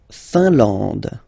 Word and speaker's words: Finlande: La Finlande. IN here, nasal, un. AN, nasal, en. And then D, final not pronounced. La Finlande.